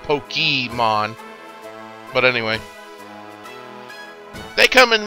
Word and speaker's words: Pokémon: As you know, Pokémon, it's actually pronounced Pokémon, not Pokémon.